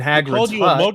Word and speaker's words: Hagrid: And then he's and as he's vomiting up slugs in Hagrid with a hard G.